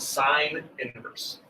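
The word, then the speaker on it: sin⁻¹: or the opposite of the sine function it's pronounced sine inverse cosine and tangent have similar inverse functions as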